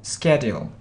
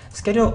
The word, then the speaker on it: schedule: a flexible schedule yeah so we can pronounce it this way schedule or timetable timetable timetable yeah good so sometimes you can hear schedule uh sometimes you can hear schedule so it depends it depends well so uh self-employment so